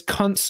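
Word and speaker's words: Kunce: But this Kuntz guy, rhymes Kuntz, with literally, that's his name, Lucas Kuntz. Yeah, but we're gonna say it rhymes with dunce.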